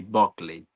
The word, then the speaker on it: Buckley: Jessie Buckley se pronuncia así, Buckley. Como con O, Buckley.